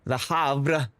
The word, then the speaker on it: Havre: She has, well, but see, the R is after the V, not before it. I just, you know, I'm just following the way it's spelled.